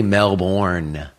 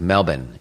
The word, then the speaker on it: Melbourne: They don't say Melbourne, like it's spelled. It's like Melbourne. You have to say it really fast.